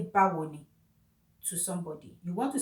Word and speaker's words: Báwo ni: It is just three syllables. Ba wo ni. It's like saying, how do you do?